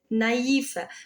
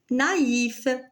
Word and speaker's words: naïf: Alors, le tremma, le tremma se place sur la deuxième voyelle d'un groupe pour indiquer qu'elle se prononce séparément. Regardez en Noël, maïs, naïf.